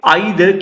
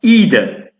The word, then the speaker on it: either: British pronunciation එක තමයි either කියලා කියන්නේ. එතකොට American pronunciation එක either.